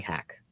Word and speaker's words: Haq: They just call me Hack. That's how I've always been referred to.